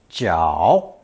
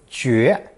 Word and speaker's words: 角: It's a cow's horn, pronounced third tone, 脚, 脚, with a less common, more literary pronunciation of second tone, 绝, 绝.